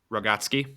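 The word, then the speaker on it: Rogotzke: Rogotsky.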